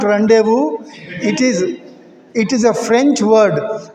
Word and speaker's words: rendezvous: Yes, but it is not rendezvous. It is a French word, rendezvous. Yes. Be careful of the pronunciation. This is a French word, rendezvous. Z. Rendezvous. Rendezvous.